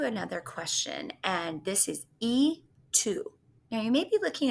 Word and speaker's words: y: group how is that E2 that's a why why isn't it Y2 well because in the Spanish language when the letter y is being used as the word and it is pronounced as e e Tu and this